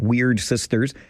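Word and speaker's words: Wyrd Sisters: I had to check the pronunciation of Weird Sisters because it is spelled weirdly, W-Y-R-D.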